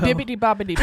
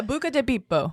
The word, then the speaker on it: Buca di Beppo: Bibbidi bobbidi boo. Yeah, I was gonna say. Motherfucker. That is not how you say it. It's Italian. Yeah, Buca di Beppo.